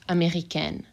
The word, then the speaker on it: américaine: And if I add an E, then my N gets pronounced, américaine.